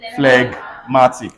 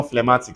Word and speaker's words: phlegmatic: what happens to everybody flag Matic no phlegmatic say phlegmatic we are phlegmatics we